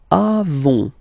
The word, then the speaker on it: avons: Then nous avons. Final S not pronounced. Avons.